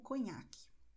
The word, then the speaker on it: conhaque: E observe que a combinação NH tem som de NI, ok? Como conhaque, ok? Se você diz o nome dessa bebida em francês, cognac, então será esse mesmo som.